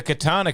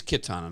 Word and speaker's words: Kitana: says MK so the katana character has a fighting fan that's wild it's a spiked fan and K is a sword good point it's spelled Ki yeah she's Kitana not Katana I may have been